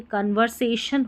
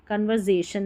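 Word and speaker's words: conversation: को स पढ़ेंगे, तो ये कन्वर्सेशन हो गया, कन्वर्जेशन नहीं पढ़ेंगे, ठीक है।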